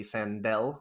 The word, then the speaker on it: Sandell: search for my name sandal or it's well phonetically sandell with an el at the end i also have my